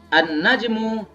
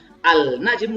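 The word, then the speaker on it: النجم: hai the lounge Hai An najmu baitun bintang itu jauh kebacanya bukan al-najm udah begitu an-najm ketika bertemu dengan huruf biasa ditambah dengan tanda-tanda plastik begini tulisannya dibaca an-najm semuanya Ibuku muslimin dimanapun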